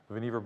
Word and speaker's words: Vannevar: Vannevar Bush, rhymes with beaver, by the way. Easy way to remember how to say that.